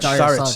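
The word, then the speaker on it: Šarić: Saric.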